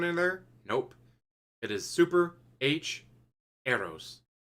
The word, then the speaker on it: Super HxEros: there nope it is super h arrows do not pronounce the x kind of like hunter